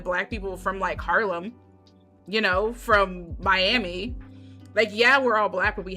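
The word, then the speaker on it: Miya: Because, okay, so, I heard people online pronouncing it Maya, but it's Mia.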